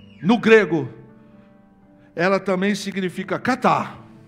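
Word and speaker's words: κατά: grego ela também significa catá com K que indica o movimento com significado de ir para baixo Cat que é assim que se pronuncia no grego significa uma ação de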